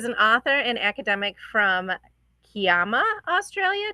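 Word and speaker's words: Kiama: author and academic from Kama Australia did I pronounce that right cayama say it again cayama cayama cayama Australia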